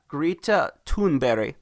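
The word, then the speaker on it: Greta Thunberg: grita foon but it ya grita tun berry that's how you pronounce it I looked it up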